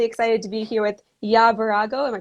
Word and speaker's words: Birago: I'm really excited to be here with Birago. Am I pronouncing that correctly?